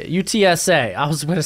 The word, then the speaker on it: UTSA: UTSA.